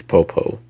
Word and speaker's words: Popo: I want to say his name is Popo.